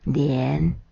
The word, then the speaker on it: 年: 作为姓氏的年，闽南语采文读念法连。